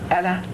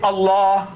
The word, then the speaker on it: Allah: write as you like, but pronounce my language the way I want you to. Say Allah, No, you can't. It's difficult. Your tongue is not... You say Allah. I say, not Allah. Say Allah. Yeah.